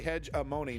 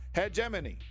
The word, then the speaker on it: hegemony: exactly it's the Patriots just say hedge Amon no it's not cuz that's not how you say it that's how the dummies say it you either say it right or you don't say it at all God damn it head geminy head geminy see I got boom white whale destroyed just got to practice just got to practice folks it is not hedge Amon okay alamon is spelled